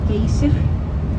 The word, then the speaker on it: Geysir: Maybe you pronounce it Geysir or Geyser, but we pronounce it Geysir. Like happy and Geysir. That's how we pronounce it.